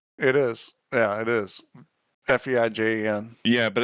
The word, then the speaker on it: Feijen: Feijen? How do you say that? Niels Feijen. Feijen. It's a it's Y like sound. it's a silent J, Steve. Feijen. No, well, it's a Y. Feijen. That's a Y.